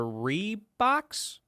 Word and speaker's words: Reebok: And they're Reeboks. Reeboks? That is how you say that name, Reebok.